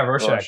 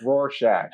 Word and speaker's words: Rorschach: How have I done, by the way, pronouncing it? Have I done okay? You've been great, Rorschach.